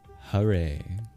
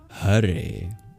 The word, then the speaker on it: Hare: The H is not the same as the English H. English H we don't voice. If an English person were to pronounce that word as it's spelled, they'd say Hare. Whereas in Sanskrit it's more like Hare. Can you hear the difference just on the H?